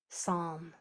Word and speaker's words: psalm: PS is a silent letter pair where you don't hear the P, you only hear the S. So that gets one sound. Here's another example. Psalm like the psalms that